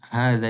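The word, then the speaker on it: هذا: Hadza itu h-nya panjang apa pendek? Panjang. Begitu pula. Hadihi ya. Panjang atau pendek H-nya ya. Kalau dza panjang di hadza dibacanya panjang. Dibacanya panjang tapi tulisannya enggak panjang.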